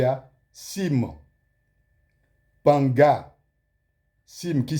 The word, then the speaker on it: Cim Panga: Et vous allez remarquer qu'il y a Sim, Panga, Sim qui s'écrit C-I-M, Panga, P-A-N-G-A.